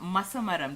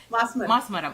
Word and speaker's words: Masmaram: acted in Malayalam movie Vendum and I think Masamaram. Did I say it right? Masamaram, right? Masmaram.